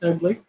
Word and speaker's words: Ugli: I only know the one, and it is an ugly fruit, and it is spelled UGLI, ugly.